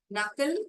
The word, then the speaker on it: knuckle: knuckle, K is silent.